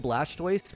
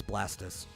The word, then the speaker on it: Blastoise: um we call him Blastoise because that's what the anime says um it's blastis it's it's actually supposed to be blasted like a tortoise oh yeah same with